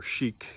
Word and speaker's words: chic: and sometimes in English, we have exceptions to the rule too, like for instance, Chicago or chic. You know, we don't pronounce that like a ch sound, like most words in English.